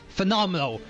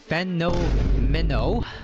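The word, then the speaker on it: Phenomeno: Okay, so next I'm going to talk about phenomenal. Well, that's how I pronounce his name. His name is actually Feno Minnow.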